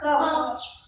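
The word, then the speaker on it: cough: ओ य जी एच कफ मध्ये स्पेलिंग वेगळे आणि उच्चार वेगळा होतो सी ओ य जी एच कफ म्हणायचं काय म्हणायचं कफ त्यानंतर आहे कॅरम सी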